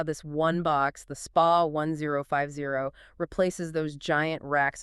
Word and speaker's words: SPA: And you pronounce it spa, like a wellness spa, not spa.